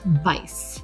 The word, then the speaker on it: Weis: we i s but it's pronounced Vice that's the German pronunciation so we hope you